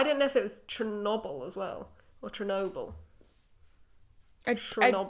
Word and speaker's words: Chernobyl: I've always been told it's Chernobyl. Chernobyl. With a soft sh. But he pronounced it with a ch. But I didn't know if it was Chernobyl as well, or Chernobyl.